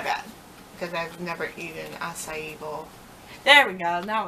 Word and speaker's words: acai: because I've never eaten acai bowl. There we go. Now I'll pronounce it right.